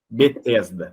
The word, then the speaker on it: Betesda: Ô, Ana, qual que é a pronúncia? Betsaida? Bethesda? Não, detesto. Betesda, obrigado.